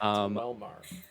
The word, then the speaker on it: Quelmar: The Q is Yeah. silent. It's not where you expect. He was always silent. It's Quelmar.